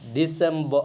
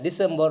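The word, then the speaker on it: December: এটা আমার যে আমি যেমনি উচ্চারণ করতাম এমনি ডিসেম্বর সারের অনুপাতে, কিন্তু এটা ডিসেম্বা এরকম হইব।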